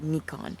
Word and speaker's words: Nikon: dude it's a Nikon they pronounce it Nikon here there's Japanese is a